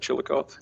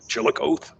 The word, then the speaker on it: Chillicothe: Chillicothe. Chillicothe.